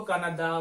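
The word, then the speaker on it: Canadá: कनाडा, कनाडा, इसको कनाडा बोलते हैं, ठीक है, कनाडा। जल्दबाजी में कनाडा कनाडा निकल जाता है, लेकिन ये कनाडा। इसमें देखिए अंतिम जो अक्षर है वो आ, ठीक है, और इसका जो उच्चारण होता है वो होता है कनाडा, जैसे मामा, पापा, आ लंबा।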